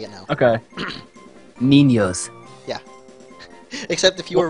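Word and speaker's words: niños: an N yeah uh it is pronounced as like if you had an n and a y so think it was n i n y o s and say it now okay ninos yeah except if you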